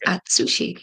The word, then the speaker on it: Atsushi: Is it Atsushi? No, okay, again, because it's the T's SU is that Su sound, right? So it's Atsushi.